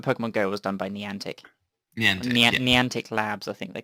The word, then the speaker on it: Niantic: Oh, Niantic.